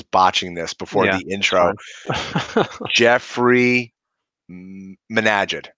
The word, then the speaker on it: Jeffrey Menaged: have a very special guest today I'm gonna pronounce his name because my brother was botching this before the intro Jeffrey Minaj it right okay welcome Jeffrey yes I we